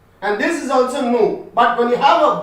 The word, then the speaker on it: nous: When you are reading this separately, nu will be pronounced as nu only. You don't say nus.